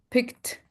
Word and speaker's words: picked: Picked. We are not pronouncing the e.